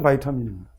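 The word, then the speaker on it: vitamin: 우리는 비타민이라고 하고 영어 발음은 바이타민입니다.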